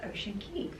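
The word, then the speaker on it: Ocean Cay: Key I did find out some people were pronouncing K and some will key but according to MSC it's Ocean Key Ocean Key and key just means a group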